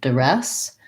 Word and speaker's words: duress: And so duress has second syllable stress. And the first DU can be a schwa, like res. And then we have red tent vowel there, duress.